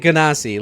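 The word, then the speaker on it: genasi: ] in chat it's ganasi I pronounce it ganasi like like Ang in the Avatar and no and nobody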